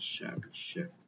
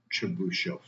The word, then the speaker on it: Chebyshev: Pronunciation. Chebyshev. Is it called Chebyshev?